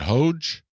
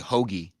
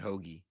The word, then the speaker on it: Hoge: pronounce this guy's name said hoge i think it's actually hoagy i think it's they pronounce it hoagie i thought we know